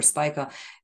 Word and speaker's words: Spica: Spica for instance I I never lose speaker or Spiker if you know please write to me in the in the comment how to pronounce it I heard it both ways we say speaker here in Hungary anyhow they it provides